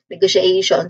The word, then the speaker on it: negotiation: So this is how you pronounce actually the letters t i o n. Usually, if not all the time, most of the time, if you encounter a word that has a spelling um that has a t i o n spelling at the end, I don't know, usually at the end, um you say it as sh.